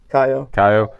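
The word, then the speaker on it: Caio: See, I'm leaning with you with Kao. How do you say his name? Kaio.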